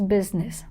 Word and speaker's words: business: It's busyness. Actually, the written way is BUSINES, but the spelling is this, pronunciation is business.